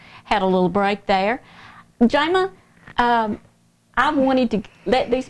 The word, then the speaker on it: Jama: It's pronounced Jayma, like Jamie, but I grew up in a small town, Marion, Virginia.